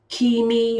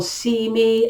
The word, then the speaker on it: Cimi: the my own name could be a key me or see me again people pronounce these words so different it means death which